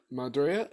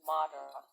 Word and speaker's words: Madara: Also, you butchered my name again. It's Madara. I'm sorry, Madara.